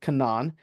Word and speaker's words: Canaan: Ashkelon, and then over here we actually see Canaan or Canaan. Technically, it should be pronounced Canaan.